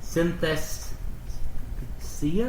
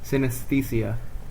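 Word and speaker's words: synesthesia: colorized um it's called Synthesia I can't pronounce this St can you pronounce this uh her and her brother both have this disease oh sin oh oh no I read that wrong sinesia sinesia and it's where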